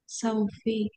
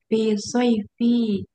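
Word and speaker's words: صيف: Ah, Saufi. Di situ bacanya itu Ustaz. huruf ya itu bukan wau. Oh, fis soifi.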